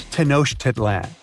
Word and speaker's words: Tenochtitlan: It's Tenochtitlan. And Mayan cities are hard to pronounce too.